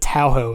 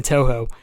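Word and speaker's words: Touhou: the first stream ever I butchered I said towo it's actually too um yes absolutely um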